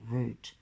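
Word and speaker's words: route: in the old world the word root does not rhyme with doubt but with birch to food shoot and loot blame the French you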